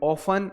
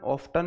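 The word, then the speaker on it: often: Always, usually, generally, ऑफ्टन, और sorry ऑफन, ऑफ्टन नहीं बोलते, इसमें टी साइलेंट होता है।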